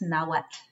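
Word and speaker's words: Nahuatl: the yuto nawa na what till but it's pronounced nawat and that's the the correct we should work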